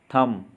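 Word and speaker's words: thumb: तो B silent वाले words देखते हैं। तो इसमें है कोम मतलब कंघा। लैम्प, मेमना। थम, अंगूठा।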